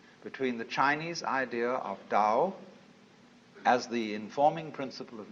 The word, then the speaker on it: Tao: is Paul the Dao Tao pronounced Dao in the Mandarin dialect Tao in the changhai